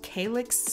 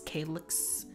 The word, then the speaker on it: calyx: and slice i start by removing the it's pronounced calyx calyx which is just a little green leaf a